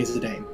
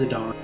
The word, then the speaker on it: Zidane: I don't know anyone who didn't say Zidane. Yes, I did. Yeah. So. But it's been established multiple times that it is Zidane by multiple sources. So.